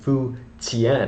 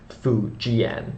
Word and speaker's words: Fu Jian: 16 kingdoms period and fuen it's pronounced but in Latin characters that's Fu Gan that's f u j i a n and my apologies for